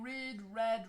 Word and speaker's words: read: And remember, so the pronunciation for the past tense is the same as for the past participle.